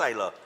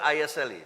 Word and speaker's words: Isla: It's pronounced Isla. It's spelled I-S-L-A, but it's pronounced Isla.